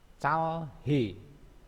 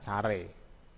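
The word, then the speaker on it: 잘해: Selanjutnya contohnya lagi, ini adalah tulisannya calhe. Calhe ya, bacanya adalah care. Bacanya care.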